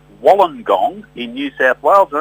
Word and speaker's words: Wollongong: Well, Graham Bond, Auntie Jackie, comes from a place called Wollongong in New South Wales, and that's where I am this morning. Wollongong, as we pronounce it, Wollongong as it is spelt.